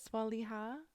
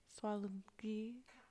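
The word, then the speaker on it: สวัสดีค่ะ: Swaliha? ส ว ั ส ด ี ค ่ ะ Swalgi? It's like swat Swad D di ค ่ ะ ka. Swadika?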